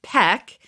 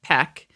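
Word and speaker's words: Paik: mr p piak he he pronounces it as peck i know we've had an argument about how to say it and we're just calling him mr p but apparently it's peck which makes me think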